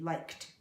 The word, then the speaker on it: liked: a cut sound like liked we pronounce it like a t liked those are examples of